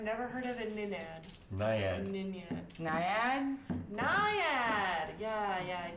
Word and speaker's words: Naiad: and then she told me that a Ninyad's like humanoid. Is that true? A what? The Ninad that she can summon? That's exactly how I pronounce it. I have never heard of a Ninad. Naiad.